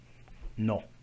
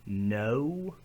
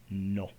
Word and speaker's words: no: No. It doesn't swing into that U sound like no. It's just no.